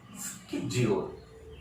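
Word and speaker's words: schedule: तो कैसे बोलेंगे, the word should be pronounced as स्केड्यूल, स्केड्यूल।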